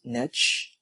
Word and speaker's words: niche: You can pronounce it as niche or niche, and it was only recently that I find myself saying niche quite often, so don't be surprised if I use both in this course.